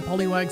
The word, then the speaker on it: Poliwag: Uh, I do cuz I definitely used to pronounce it uh differently as a kid. Oh, it's a Poliwag. No, Poliw. No, Poliwag.